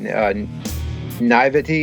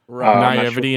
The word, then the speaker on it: Naïveté: to say it, but Naïveté in Black. It's that funky word. It looks like nativity, but it's Naivety in Black, maybe.